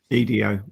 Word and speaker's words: Edo: And yeah, it just sounds so interesting because I've heard of the Edo period, and I think that's spelled IDO. EDO, actually.